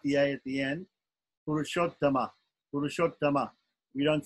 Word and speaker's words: Purushottama: Purushottama. Purushottama. We don't say Arjun, we don't say Purushottam, we say Purushottama in Sanskrit. It's a short A at the end, but it still has to be there.